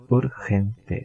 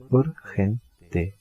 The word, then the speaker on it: urgente: to be urgent is urgente. Urgente. Just add e, and the pronunciation of g in Spanish is h, like he.